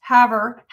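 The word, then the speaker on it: Havre: She said Haver is pronounced Haver, Montana.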